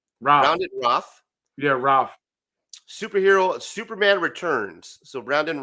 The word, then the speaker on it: Routh: Routh. Brandon Routh. Yeah, Routh.